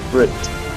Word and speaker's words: fruit: Amigo sería friend, traje sería suit y fruta sería fruit, ok, entonces esa ahí no suena, entonces tengo friend, suit y fruit, ¿sí?